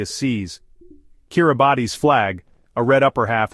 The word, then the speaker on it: Kiribati: Independence came in 1979 as Kiraabati the Gilbert's pronunciation of Gilbert's Kiribes.